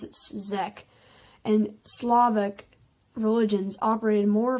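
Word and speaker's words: Czech: spelled c-- z e CH i'm going to pronounce it Zek and slavic religions operated more fully within the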